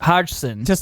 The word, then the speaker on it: Hodgson: guys went to hodgs hodgson the g is silent yeah well the g